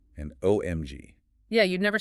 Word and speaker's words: OMG: For LOL and OMG, they are almost universally pronounced letter by letter. LOL and OMG.